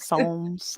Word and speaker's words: psalms: it was poems not psalms i just did not understand well yeah because i guess the p is silent but i'm dyslexic so